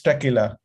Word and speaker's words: Taqelah: to present at tequila singapore how do you pronounce it tequila right yes it's tequila so welcome everyone to the show and i